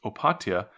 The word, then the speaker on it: Opatija: So in this case, I believe it's pronounced Opatija, and it is spelled with a J in there, Opatija.